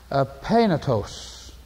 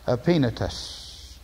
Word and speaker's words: Epaenetus: The Greek, Epaenetos. But in the English, Epaenetus.